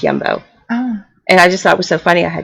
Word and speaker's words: Jumbo: It looks like jumbo, but it's pronounced Yumbo.